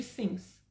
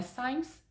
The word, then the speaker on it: sims: Eu tenho alunas que eu já corrigi umas 300 vezes, fora de brincadeira, a pronúncia de sims. Não é signs, é sims.